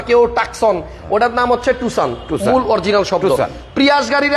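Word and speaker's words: Tucson: যেমন এটা আসলে প্যাসো হ্যাঁ আমরা বলতেছি পাসো টাকসন গাড়িরে দেখেন কেউ বলে টুসান কেউ বলে টুকসান কেউ টাকসন ওইটার নাম হচ্ছে টুসান মূল অরজিনাল শব্দ প্রিয়াশ গাড়িরে আমরা প্রিয়াস প্রিয়াস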